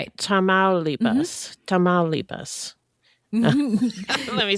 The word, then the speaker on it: Tamaulipas: Tamaulipas.